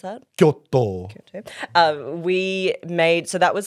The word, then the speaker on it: Kyoto: So after Kyoto, sorry, how do I pronounce that? Kyoto.